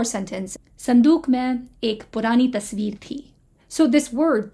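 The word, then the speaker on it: تصویر: So this word, tasveer, has a vowel in the middle, but you can see that it's pronounced with a v rather than u, right? It's not tasveer, it's tasveer.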